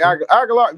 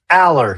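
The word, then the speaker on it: Allar: I like Agalar. You talking about Agalar for Penn State. Aller. Yes. Aller. Say his name.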